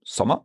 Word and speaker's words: Sommer: So, for example, Sommer, a very short O, Sommer. Sommer. Okay. But then Rot, it's Rot. a longer one. Right. To me, there's a difference there because I'm thinking of summer. That O is the same as, for example, the word sock in English.